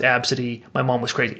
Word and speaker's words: Abcde: is AB City yes I know it's ABCDE but it's pronounced AB City my mom was crazy